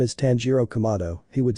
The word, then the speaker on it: Tanjiro Kamado: "Tanjiro, I'm not useless, my name is Tanjiro Kamado," he would say with noticeable anger. "Zenitsu, well, Ganbachiro Kamaboko, I'll defeat you," he said, making Tanjiro even angrier because he mispronounced his name.